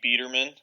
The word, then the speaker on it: Biderman: It's actually Biderman. There's kind of a long story behind it, but I totally understand because nowhere in English does an I make a long E sound.